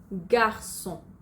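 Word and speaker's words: garçon: যেমন গার্সন, গার্সন সির পরে ও আছে কিন্তু এটার উচ্চারণ তবু আমরা অ্যাসের মতোই করব।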